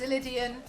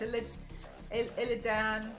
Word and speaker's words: Illidan: Yanks thought it was Idian was corrected. It's illidan was then corrected. It's not illegal. Dan, it's Illin. Whatever.